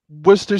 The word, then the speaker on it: Worcester: but Danny he wants to know where's W Worster university did I pronounce that right Worcester State University is in Worcester Massachusetts um I'm